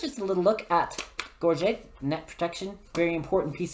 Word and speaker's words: gorget: wearing gorgeous or lego no we call it gorget you're you're gorgeous protect your neck with your garget i don't know a